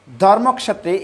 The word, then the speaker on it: ধর্মক্ষেত্রে: যেহেতু ক্ষীয়টা ক প্লাস মূর্ধন্য ষ, এই দুইটা বর্ণের মিলনের ফলে হয়, সংযুক্তির ফলে হয়, সেজন্য আমরা প্রথমে এটাকে উচ্চারণ করব ধর্মক্ষেত্রে।